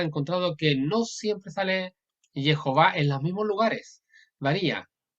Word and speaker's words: Jehová: correcta debe ser Jehová, tal como se pronuncia Jehová, eh, encargando la última sílaba, va, mejor dicho, va, acá, va.